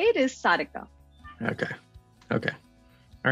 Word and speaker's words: Sarika: approach in which i would say it is sadika okay okay all right good cool so um